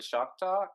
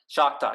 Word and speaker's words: Choctaw: Choctaw. Yes. Okay. Yeah. Oof, there we go. The I said it Choctaw right.